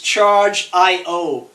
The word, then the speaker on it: Chargiot: of the company its charged io the T is silent hi everybody I'm